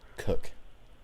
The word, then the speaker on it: Koch: how do you smoke Koch KLC H cook I believe is how you pronounce it cook yes and what if